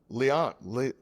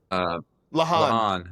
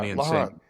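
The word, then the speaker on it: La'an: And now it looks like, a lot, Leon? Is that how you say her name? Lahan. Yeah, Lahan. And I was just like, is this actually going to happen?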